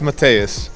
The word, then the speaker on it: Mateusz: right pronunciation right away it's Matthias and second name so yeah it's quite